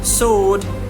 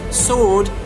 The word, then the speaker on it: sword: whom, whose, whoever, answer, sword, to. Here, these are the example here. What exactly is silent? Silent is W. W is silent here. Who, whose, whole, whom, whose, whoever, answer, sword, and two.